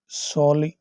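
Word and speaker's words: solely: शामिल होगा will be सोली responsible सिर्फ सोली mean ओनली first A silent year सोली ओनली will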